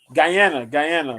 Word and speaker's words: Guyana: Guyana.